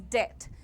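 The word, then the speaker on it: debt: यह डेबिट नहीं है बेटा। इसमें तुम्हारा बी साइलेंट है। The pronunciation is डेथ। The spelling is डी ई बी टी बट the pronunciation is डेथ everyone one. कर्जे को अंग्रेजी में डेट कहते हैं। बी साइलेंट है। जैसे आप डिटेंशन में डेट बोल रहे हो। डेट वैसे ही बोल सकते हो डेट।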